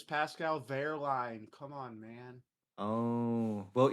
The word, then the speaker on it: Wehrlein: Wehrlein.